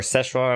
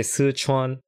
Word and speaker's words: Sichuan: Actually, the Raj, there's a Sichuan or Szechuan, I don't know how you guys pronounce it. But in Chinese we say Sichuan.